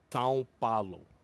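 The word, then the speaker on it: São Paulo: It's like Sao Paulo. Sao was- Paulo. Ow, ow. That was awful. That's how they say it in Portuguese. The It proper way of sounds saying like you gotta actually. it. You gotta get a little nasally with it.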